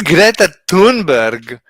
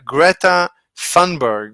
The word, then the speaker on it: Greta Thunberg: hi Nicole who is Greta T who is Greta tunberg she doesn't know because I mispronounced it it's gr gret Greta thunberg maybe you know her by Greta thunberg I